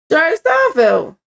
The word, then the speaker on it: Seinfeld: Jerry Seinfeld. Am I saying his name wrong?